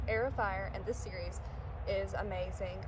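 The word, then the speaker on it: Heir of Fire: And I'm currently reading Aerofire, not Herofire. I pronounced it that way last time and you guys were like, "What are you talking about?" But yes, Air of Fire and this series is amazing.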